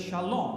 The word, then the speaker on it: Shalom: I've put in bold riding where the correct pronunciation should be with emphasis so it's Shalom right now watch out this is all wrong